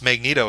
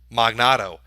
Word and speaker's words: Magneto: Because he tried to pronounce Magneto as a name. Magnato.